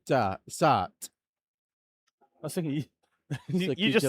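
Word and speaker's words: Sarthe: And they say that it's Circuit de la Tart.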